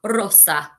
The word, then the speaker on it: rosa: Remember to roll your R. Rosa.